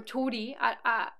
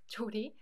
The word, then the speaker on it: 조리: Oh my gosh, 쪼리, 쪼리, or 조리. I think it's probably spelled this way, but most people pronounce it 쪼리, 쪼리.